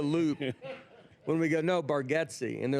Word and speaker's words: Bargatze: I like how you say that you mispronounced your last name, but you know when it's a lot of people say Bargotsi, but it's Baretti.